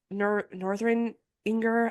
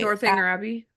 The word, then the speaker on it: Northanger Abbey: I think I can't remember if it was Northern Inger. I can never say it right. Northanger Abbey.